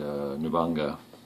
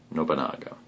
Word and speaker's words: Nobunaga: So in the very first turn, the Oda clan moves first, and Nubanga, or I should say Nobunaga is the correct pronunciation of that, I believe.